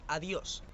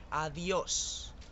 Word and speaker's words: adiós: La siguiente palabra es adiós. Este es el saludo de despedida típico. Fijaros en la S final. Adiós.